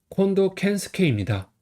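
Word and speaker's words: 近藤健介: 25번은 콘도켄스케입니다. 한자는 가까울쿵 등나무 등건 낄게입니다. 다 배운 한자예요. 가까울 거는 콘 그다음에 등나무 등은 여기선 도울라고 있죠. 세공은 여기서 캔는 스케라고 읽어요.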